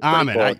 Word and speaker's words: Amman: Did I say it right? Well, it's Amman. Amman. I knew I was going to mess it up.